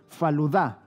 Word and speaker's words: faluda: Se llama faluda, o mejor acorde con su pronunciación, faluda, con acento en la última.